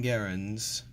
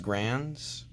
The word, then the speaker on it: Garand: You've got M1 Garands, or I've heard them pronounced Grands, but I've been told that it's actually pronounced Garand.